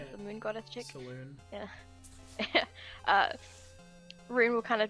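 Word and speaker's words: Selûne: It's Salune, right? Is it pronounced Salune? The god, Yeah. the moon goddess chick? Saloon.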